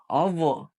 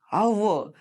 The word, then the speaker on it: hour: The second example, dash hour. Here, observe the pronunciation. Hour, like hour. Here, H is silent.